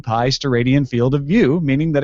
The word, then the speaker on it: steradian: The unit for a solid angle is the steradian, pronounced steradian.